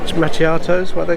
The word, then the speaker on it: macchiato: Macchiatos, how do you pronounce them?